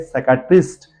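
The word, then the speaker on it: psychiatrist: को देखिए प एस के आगे पी है साइकेट्रिस्ट दैट इज वई पी इज साइलेंट देन बहुत ही हमारे बढ़िया सब्जेक्ट है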